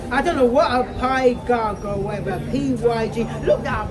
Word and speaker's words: pygarg: Pig arg. Or pygarg. Pygarg. Pygarg. No, not pig. Pygarg.